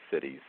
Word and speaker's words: Siddhis: And there are many accounts, for example, in the Vedas and in the literature in Sanskrit of one of the cities, Siddhis, it's pronounced cities, where masters have been